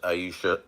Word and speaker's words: Ayasha: So, what's up, Ayasha? Pronounced Aisha.